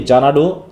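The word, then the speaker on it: Xanadu: প্রথমে বলছে ইন জানাডু এ উচ্চারণ হবে কি জানাডু এক্স N eddy you ইন জানাডু জানাু কি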